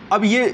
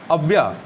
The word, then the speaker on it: Abaya: ठीक है, अब ये जो विद्रोह यहाँ पर इथोपिया में हुआ है, कहाँ पे हो रहा है?